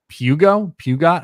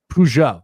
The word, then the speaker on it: Peugeot: Pugot. I don't know how to say this name. Tonight's prediction. Peugeot.